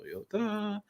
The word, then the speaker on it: Toyota: Speaking of buying, Brenner wants to know, Tim, I've owned Toyota, 3 syllables, Tim, Toyota, and GM trucks.